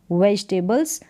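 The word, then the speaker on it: vegetables: वह सब्जियां बेचता है, वेजिटेबल्स। यहाँ पर वेजी करके ये टेबल्स, तो इनको ऐसे डिवाइड कर कर प्रोनाउंस कर सकते हैं बड़ी स्पेलिंग्स को।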